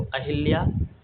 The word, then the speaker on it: अहल्या: अहल्या, यह आपका व्याकरण की दृष्टि से और बोलने के दृष्टिकोण से दोनों ओर से जो है शुद्ध है। तो आपका सही शुद्ध उच्चारण वाला अर्थ होगा अहल्या। अहिल्या शब्द आपका गलत होता है, ध्यान दीजिएगा।